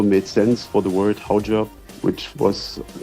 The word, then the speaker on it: Haujobb: It's spelled Hautjob, but because it came only in the movie twice, the name Hautjobs, and I couldn't hear the T, so to me it sounded like Haujob, which translated to German